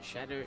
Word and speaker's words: Shahder: between Who Cares and Shadder. I hope I'm saying that right. Yes, you are to a certain extent. Well, many people pronounce it differently, but Shadder it is.